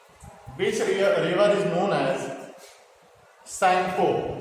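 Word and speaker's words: Tsangpo: river is known as Sangpo, जहां पे spelling जो होती है टी से शुरू होती है, SANG, Sangpo।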